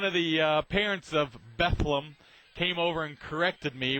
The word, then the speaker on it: Bethlehem: not trying to be uh obnoxious but it's pronouncing bethleem I guess this kind of goes along the